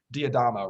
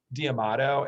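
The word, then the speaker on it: D'Adamo: I can never say his name right, but Diadamo, right? Peter Diadamo. Yeah, Peter Diadamo. Yeah, I always say that the last name. I'm dyslexic, so I always say Diamato, and then people are like, "Who are you talking about?"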